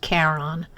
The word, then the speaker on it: Charon: big moon named Karen I know it looks like Charon but it's pronounced Caron and four tiny moons